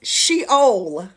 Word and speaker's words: Sheol: Word number one is the Hebrew word, and it's Sheol.